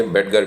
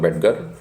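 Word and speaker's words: Bettger: तक कैसे पहुंचा फ्रैंक बेजर ने लिखि बेटगर भी इनका उच्चारण करते हैं कुछ लोग बेटगर फ्रैंक बेजर भी इन्ह बुलाया जाता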